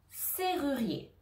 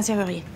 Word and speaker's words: serrurier: r ri rier c'est ru rier C ruier serrurier etessie de le prononcer à la maison à voix haute serrurier